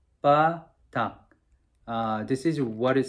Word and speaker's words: BBA-DACK: I'm gonna just show you how to say it. It's a ba dak, ba dak.